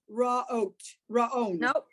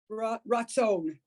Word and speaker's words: ratzon: Raon. Nope, same letter. Ratzon.